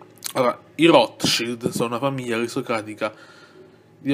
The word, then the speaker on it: Rothschild: Quindi Rothschild si pronuncia appunto Rothschild, cioè una piccola pausa in mezzo a Roth e Shield.